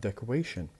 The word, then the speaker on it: decoration: We have decorate, the stress on the beginning. But when we add ION, we will have decoration. The stress will be moved to the third syllable.